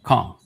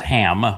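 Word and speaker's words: Cham: Kam, which is everybody pronounces it as Ham, but it's a C-H-A-M.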